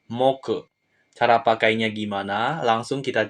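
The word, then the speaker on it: 目: kita ke kunyomi ongyomi kunyominya itu me oke yang artinya mata untuk ongyominya adalah Moke Cara pakainya gimana langsung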